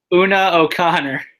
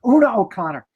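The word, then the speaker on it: Una O'Connor: route woo O'Connor I don't know how to pronounce her name oh no Connor yeah say that again Billy Oona Oh Connor oh that's Oh Connor Oona O'Connor uh maybe it's my writing I screwed up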